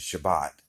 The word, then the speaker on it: Shabbat: Saturday, which is actually the Hebrew word for Sabbath, which pronounced in Hebrew is Shabbat, which is the same thing.